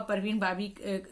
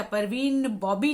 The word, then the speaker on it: परवीन बाबी: और जीनत अमान और परवीन बाबी जो है उनका जो अभिनय है वो एक दूसरे ही तरह का है। अच्छा, परवीन बॉबी नहीं है, वो परवीन बाबी है।